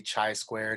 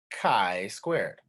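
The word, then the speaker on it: chi-squared: could come up and i don't want you to say chi squared and people don't know what you're talking about you want to keep that communication as effective as possible so let's try it together chi squared all right so why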